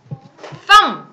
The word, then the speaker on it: thumb: 그래서 얘에다가 얘가 더해지고 요 비는 소리 안 나요? 그러면은 어떻게 할까요? thumb 그죠? thumb이 되는 거예요. thumb 얘 발음 어렵습니다.